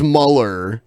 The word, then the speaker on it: Mueller: and closer to presidential I know his name is spelled like Mueller but everyone says Muller I have except for